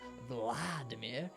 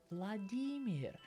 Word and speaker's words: Vladimir: have that sound either when you see an i in a Russian name it's pronounced e e so it's not Vladimir it's vadir Vladimir the third thing you're